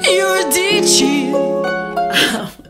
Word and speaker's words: Eurydice: And my brain was like, well, obviously Eurydice. Eurydice. Which is Gluck's pronunciation in his opera Orpheus in the Underworld.